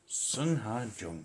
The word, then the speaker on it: Sungha Jung: Sungha, Jung. I'm trying to remember to pronounce it that way from here on in.